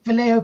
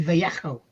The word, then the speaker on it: Vallejo: People say Vallejo paint. People say Vallejo. It's actually Vallejo. Oh, Yeah, you've got to say it like you're being sick.